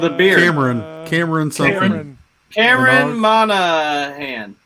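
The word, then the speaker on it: Monaghan: Cameron Monoghan. Monahan?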